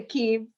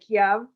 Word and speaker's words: Kyiv: K like K, Y like E. I don't know how to, but just say it how you I say it. described it. Yes. Yeah. So you say Kyiv. I think that some of us know or have heard it pronounced like Kiev, but we'll pronounce it Kyiv.